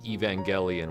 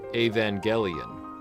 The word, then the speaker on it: Evangelion: noticed I've been pronouncing Evangelion with a hard e at the front but I'm using a hard G in the middle despite the word Angel